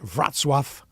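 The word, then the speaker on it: Wrocław: is spelled Rock laaw but it's called It's pronounced vatf like v r a t s swf and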